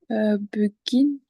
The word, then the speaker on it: begin: begin. Ouais, begin. Begin, c'est un I. Le E enfin, se prononce avec un I.